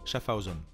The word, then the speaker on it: Schaffhausen: souvent débat iwc schaffhausen schaffhausen se prononce avec une sonorité alémanique schaffhausen c'est le non suisse